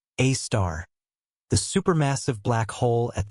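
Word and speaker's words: Sagittarius A*: We have arrived at Sagittarius A, pronounced A star, the supermassive black hole at the center of our Milky Way.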